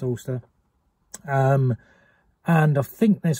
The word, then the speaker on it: Alcester: back i need to stop at ulster or all sester but it's pronounced ulster um and i think